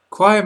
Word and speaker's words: choir: Choir must always rhyme with wire.